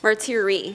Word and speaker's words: Martire: thank you then we have Ralph Martire a Marty REE he already told me as an Italian and